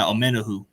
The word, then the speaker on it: Omenihu: Yeah, Omenihu.